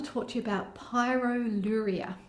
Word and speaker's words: pyroluria: Kylie Dodsworth, and I want to talk to you about pyroluria. It's a funny condition, funny sounding condition. It's spelled P-Y-R-O-L-U-R-I-A, pyroluria.